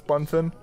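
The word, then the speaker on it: Bunfin: much at this point puffin that it's bun fin i think problem is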